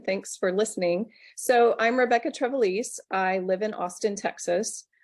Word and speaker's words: Rebekah Trevelise: So today I have my good friend, Rebekah Trevelise.